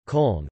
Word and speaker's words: Köln: Cologne, English, German, Köln, pronounced Cone, listen, Ripuarian, call, Kohl, listen, is the